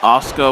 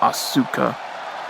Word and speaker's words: Asuka: knows asuka okay it's oscar not asuka i would like when i saw her name for the first time i thought it was asuka it was actually oscar i never would have thought to pronounce it that way you know if you